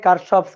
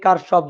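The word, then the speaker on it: Kirchhoff: কারশফস current law, current law এর উচ্চারণটা হচ্ছে কিরশফ, অনেক সময় কেউ কেউ কিরশফও বলে, কথা একই। ঠিক আছে, কারশফ কিরশফ একই কথা।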